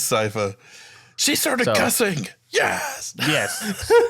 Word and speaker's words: Sypha: Did I say it right? It's so salty about it. No, I That's right. That's right. Keep it rolling. Sypha. Yeah, it's Cypher.